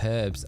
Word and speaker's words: herb: Roddicuff, of course, there is also Peeps that pronounces herbs as herbs. That's true, yeah. Likewise, the aluminium, yeah. Herbs. Herb. There's no H to it, is there?